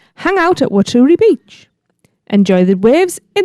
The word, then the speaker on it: Waturi: And that word shouldn't be Waturi as everyone's pronouncing it. It's Waturi. Oh, of course, yeah. Waturi. As in watery?